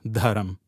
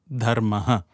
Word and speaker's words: Dharma: people it is Dharma it is not just dham it is dhaha it's so you have